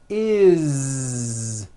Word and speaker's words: is: always add the ending is with a voiced Z. Is. It doesn't matter that it's spelled with an S. It's never is, unvoiced, never. It's always is with a voiced Z.